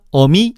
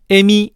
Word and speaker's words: 어미: 즉, 뜻기다, 어미, 아비, 죽이다, 속이다를 띠끼다, 애미, 애비, 쥐기다, 쇠기다 라고 발음하면 안 된다는 거야.